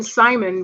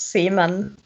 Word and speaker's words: Simon: And I know that I have to call him Simon because I am an American. I don't get it. His name is pronounced Seaman.